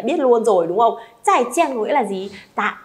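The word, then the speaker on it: 再见: Zài jiàn có nghĩa là gì? Tạm biệt. À, không ai đọc là zài jiàn nhá. Không có chiên với xào với rán gì hết.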